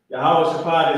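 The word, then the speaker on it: יהושפט: Yahweh Shaphat is how you say Jehoshaphat in Hebrew.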